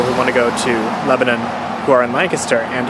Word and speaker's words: Lebanon: Here are my final thoughts on the Lebanon Transit.